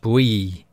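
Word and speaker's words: bouilli: bully beef comes from the french bree meaning boiled but it's spelt b-o-u-i-l-i so it looks like bully and that's obviously where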